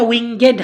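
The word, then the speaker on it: wingèd: Times হারিং এখানে উচ্চারণটা উইঙ্গেড হবে দেখো ই এর উপরে একটা দাগ আছে তার মানে ইটার উচ্চারণ হবে না হলে ছন্দ কাটবে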